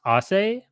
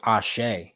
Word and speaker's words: Ashe: Is it pronounced Ase? So it's pronounced Ashe, actually, like Ashe. with the H Okay.